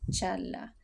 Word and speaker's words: Çağla: la pronuncian, pero nosotros, si la vemos en turco no vamos a escuchar la "g", así que son "Dooan" y Chaala".